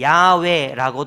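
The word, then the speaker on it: 야훼: 여호와라는 말입니다 여호와 그리고 이거를 모음을 다르게 바꾸면 야외라고 발음하기도 합니다 요아나 야외는 하나님을 부르는 말이에요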